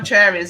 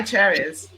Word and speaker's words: Charis: you're swing by Charis, I think it's Charis is how you say the store name. It's not Charis. It's Charis. Like Charis! Oh my God! See, because that's the Portuguese thing. The CH is sh.